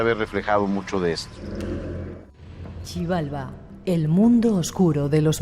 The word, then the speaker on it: Xibalba: Chibalba, el mundo oscuro de los mayas. ¿Cómo se dice? Sivalba o Sibalbá. Sibalbá. Sivalba.